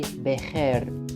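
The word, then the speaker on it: بخير: Bekhair, which is a very standard Arabic expression, but its pronunciation needs some special attention because of this letter that could be new for you. We say bekhair.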